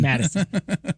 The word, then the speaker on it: Mattison: it's pronounced Mattison. Mattison.